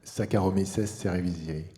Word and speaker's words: Saccharomyces cerevisiae: Peut-être qu'on pourrait laisser Jean-Baptiste et Nicolas nous le prononcer correctement. Vas-y, Jean-Baptiste. Saccharomyces cerevisiae.